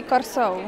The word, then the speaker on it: Curaçao: In Curaçao, we say Curaçao.